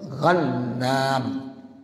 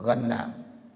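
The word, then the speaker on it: غنّام: dari Abdullah bin Ghannam bil ghainil mu'jamah, dengan ghain yang ada titik di 1 tuh. Ghannam pakai ghain titik 1. Wan nunil musyaddadatil, ya, dan nun yang ada ditasdidkan. Ya, jadi nunnya tasdidkan. Jadi bacanya apa?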